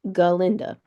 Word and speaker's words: Galinda: galinda let's say her name right shall we galinda so supporting characters so those are going to